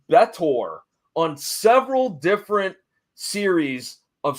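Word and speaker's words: B'Etor: go on to be I believe it's pronounced betor on several different series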